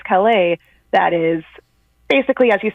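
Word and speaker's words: Callais: background on Louisiana um versus is it Cala? Kala. Yeah, that's that's also something I didn't know until this week until hearing oral argument because I was like I was just going to pronounce this any old way. Um, but yes, so now now we I can officially say that it's Louisiana versus Cala that is basically as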